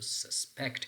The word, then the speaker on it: suspect: using a verb so which one is correct suspect or suspect so so suspect is correct you have to place a stest pattern on the second CLL so down number two